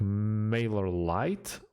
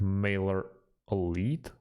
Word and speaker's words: MailerLite: really hard to pronounce it's like male or light or it should be pronounced like maler elite yeah it's kind of